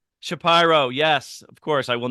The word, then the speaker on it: Shapiro: know you yet uh my name is shapy pronounced correctly I'm from Philadelphia go Birds uh and